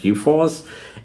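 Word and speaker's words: G4S: G 4S but they it's pronounced G-Force and uh so it's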